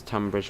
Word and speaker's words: Tonbridge: count there's one train let's pronounce tonbridge same as tambridge alright that's true pet